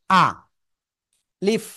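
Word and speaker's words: ألف: আ leaf আলিফ আলিফ কোন টেনে পড়া যাবে না কিন্তু।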